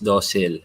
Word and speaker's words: docile: Ang pronunciation daw na tama is docile.